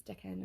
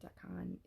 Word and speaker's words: decan: deca decon of um it's deccan or decon it depends on who you learn from i say both